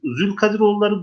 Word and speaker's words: Zülkadiroğulları: Evet, Zülkadiroğulları, Dulkadiroğulları değişik değişik telaffuzlar var.